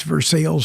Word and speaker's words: Versailles: That's Versailles for those of you not familiar with the French pronunciation.